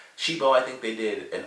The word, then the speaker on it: Cibo: Like the interactions, the way Killy meets Chibo and everything, or Shibo, it's how you pronounce it. Even though it's like Cibo, is pronounced Shibo.